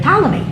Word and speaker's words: Ptolemy: So Israel ends up under the Ptolemies, which of course has a P in front of it for no reason, except they could do it. They could spell it with a P, and that's the way it works.